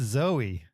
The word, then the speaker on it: Zoe: You're like, I will definitely say her last name right, and I will always say her first name wrong. It's Zoe.